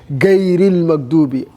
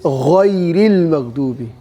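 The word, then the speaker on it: غير المغضوب: That's why some people say gayrul magdubi. Gayril magdubi. It is what? It is ghayril magdubi. So if you find it so difficult to pronounce gha, you can say what? Gayril magdubi. Gayril magdubi. Because it doesn't change the meaning.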